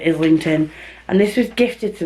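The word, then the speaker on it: Islington: brain he telling me I need to say I lington because when you say I and it's a silent s isn't it but I've heard lots of people say is linked and this was gifted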